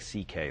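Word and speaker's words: Székely: My Hungarian grandfather's name was C.K., but it's spelled, it looks like, it's a mess. It's S-Z-E-K-E-L-Y, and it sounds like C.K., though.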